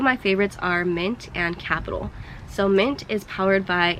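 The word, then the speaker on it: Qapital: The second app, again recommended by Auntie Mari, it's called Capital. It's spelled with a Q, Q-A-P-I-T-A-L, and this app helps you save.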